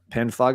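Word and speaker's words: Panphage: yep Ben faga yeah spell pan phage but uh pan fog is the pronunciation Swedish band uh this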